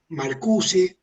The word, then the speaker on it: Marcuse: la escuela de frankfurt uno fue marcus que bueno es en francés pero se escribe marcuse y haber más es